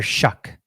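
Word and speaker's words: Shough: know what's crazy is you would never think his last name is pronounced pronounced this way but it's Tyler shuck shuck does that does that look like shuck to you no it's crazy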